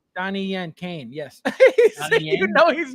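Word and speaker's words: Caine: name in the movie Kane Kane Kane c a i NE e Kane Kane like the wrestler Yes except not spelled k a n e it's spelled c a i any now look at the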